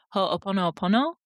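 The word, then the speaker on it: Hoʻoponopono: If anyone who's listening, if you're familiar with a Hawaiian practice called I might be pronouncing it incorrectly, but ho pono pono.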